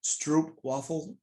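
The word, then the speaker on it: stroopwafel: dutch syrup waffle and it's pronounced stroop waffle um because troop is like a caramel in the netherlands uh like i said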